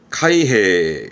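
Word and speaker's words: 開閉: 그럼 발음은 카이헤, 카이헤처럼 묶어서 봐도 좋을 것 같아요.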